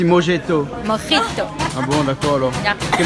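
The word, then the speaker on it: mojito: a un e non c'est M o j i t o Morito et on prononce à l'espagnol on dit mjeto Morito ah bon d'accord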